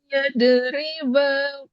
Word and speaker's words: يضرب: Inna Allaha la yastahi yadriba masalan. Ayyad riba. Do berkali-kali diingatin jangan sampai dipantulkan. Bukan. Yad riba.